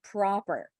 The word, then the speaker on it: proper: mistake number one is saying or instead of ah like in the word proper okay so the same goes